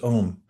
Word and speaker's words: Om: The first one's Om, spelled normally A-U-M, and it gets truncated, as most languages do, when the vowels come together, and we just pronounce it as one syllable, Om.